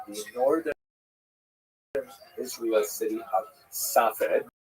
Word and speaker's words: Safed: northern Israel city of Safed, pronounced in Hebrew Tzfat or Sfas.